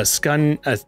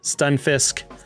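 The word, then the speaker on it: Stunfisk: bulbasaur boy uh a skun how do you say skun it's stun stun fisk a reverse holo pokemon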